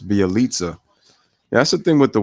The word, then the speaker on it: Bjelica: how you pronounce it i keep saying bijalika but it's bialitza that's the thing with